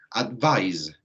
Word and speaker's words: advise: Cuando va con S, ¿cierto?, se pronuncia así, advise, right? Advise, right? Donde la Z aquí, ¿cierto?, básicamente vibra un poquito, ¿ok? Si lo vieron en inglés 1, las Z vibran un poco, ¿ok?